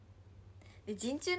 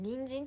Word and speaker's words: 人中: で鎮痛微笑んで人中のこと私ずっとさんにんじんって言った警部なんでかなチン中人中って読むじゃんトマコもうちょっと人参人参